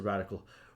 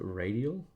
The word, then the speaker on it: radial: to the taunt radical oh I said radical redial that is not how you say it either uh is it radial radial menu listen it's not a